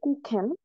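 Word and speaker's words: Kuchen: হচ্ছে মার্ক করবো সো কুখেন কুখেন এটা হচ্ছে খ সো এটা হবে না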